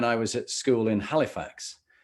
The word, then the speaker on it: Halifax: was at school in halifax or pronounced when i was there as alifax because the h always drops off they used to say